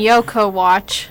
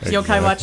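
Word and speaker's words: Yo-kai Watch: And Yoko Watch. Yokai Watch, yeah. Yeah, that's how you pronounce it.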